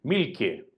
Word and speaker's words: Mielke: durante 32 años Eric milke se escribe mielke y con k muy parecido a Milk leche pero con una e y una e final una e intercalada y